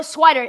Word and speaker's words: Swider: Cole Swider, SWIDER. Oh, I got it. I mispronounced on it.